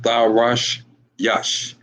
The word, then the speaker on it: Tarshish: Spain, Tarshish. And that is pronounced in the Hebrew I love our language, man. That's pronounced Tarash Yash.